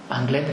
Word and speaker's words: Anglet: Anglet con la T pronunciada porque es vasco-francés. Si fuera francés sería Anglet, la T no sería sonora, sería Anglet.